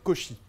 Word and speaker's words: Cauchy: Entonces, para la gente, confirmo la pronunciación es Cauchy. Cauchy. Con la tilde al final. Cauchy. Como todas las palabras francesas. El acento en francés sirve para identificar la última sílaba, que permite cortar las palabras.